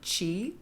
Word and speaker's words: ki: of the sun, and ki to universal life energy. It's also in some traditions pronounced chi, so really your life force.